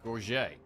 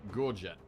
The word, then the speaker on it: gorget: As a French speaker, I pronounce it the French way, gorget.